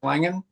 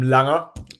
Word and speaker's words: Langer: going a little bit um Alex your last pronounced Langan I'm Langer like Langer or Langer either way is fine